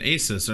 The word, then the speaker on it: Asus: I'm like oh an asus I those any good and of course it's pronounced asus I'm like come on